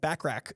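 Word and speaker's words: Bachrach: in eban Moss book backrack I've been saying his name wrong apparently it's not bu Rock it's backrack eban moss backrack and Vanessa Kirby I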